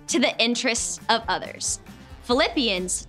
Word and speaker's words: Philippians: the interest of others Philippians sounds like the word flip so flip your hand